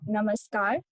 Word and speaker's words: namaskar: and other is Namaste So when you say namaskar so the namaskar r is sounded like the father in The a in the father so namaskar and the other is